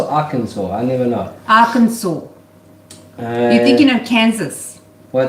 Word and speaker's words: Arkansas: Arkansas. You're thinking of Kansas. Well, it says Arkansas. No, you don't say It's spelled Arkansas.